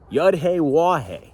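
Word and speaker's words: Yahweh: Yahhe, that's how you say his name.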